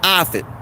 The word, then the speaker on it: Offit: in the stream his name is dr paul offit and uh any of the moderators feel free